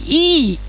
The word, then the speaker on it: Yi: Li ini dengan menjadi yang I tulisannya Yi dibacanya I kebenaran kita menjadi manusia